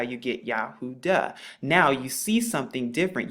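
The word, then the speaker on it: יהודה: you see something different you see the duh here the does sound because this letter right here makes the dalit is the dalit and it makes the dust sound and this is how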